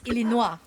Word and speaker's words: Illinois: Yeah, because it's Illinois. Which the S is silent for that state.